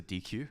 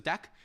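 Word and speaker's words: deque: and the deck um it's pronounced deck by the way don't say it's a dq um that is incorrect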